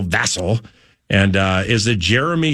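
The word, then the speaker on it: Vassell: then we get like Devon vassel not vasel vassel and uh is it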